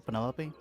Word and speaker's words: Penelope: Anyway, hey, is that short for Penelopey? Officially, yes, but I never can be bothered with all four syllables of it.